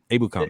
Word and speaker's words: Ebukam: Ebukam, yeah.